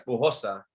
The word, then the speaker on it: Bujosa: Does your last name have a Spanish pronunciation though? Yeah, it's Spanish in origin. It's well, sorta. Yeah, it's Bujosa.